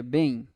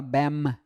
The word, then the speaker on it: bem: Sabe como é que a gente pronuncia bem? Vai lá, bem. Tu não fala bam. Isso aqui não é som de M.